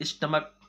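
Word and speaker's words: stomach: करेंगे, जो रूल है, क्योंकि इसमें CH जो है लास्ट में इसका उच्चारण चा नहीं है, इसका उच्चारण का है।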